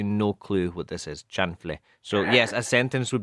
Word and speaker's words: chanfle: The word is chanfle. Chanfle. Yes. Chanfle. Let's spell that.